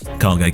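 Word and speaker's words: KAGE: Cargate Collective, isn't it? That's the correct pronunciation of it.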